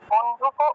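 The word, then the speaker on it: বন্ধূক: বন্ধুক, এটা দীর্ঘ আর দীর্ঘকার যেহেতু তাহলে একটু দীর্ঘরূপে উচ্চারণ হবে।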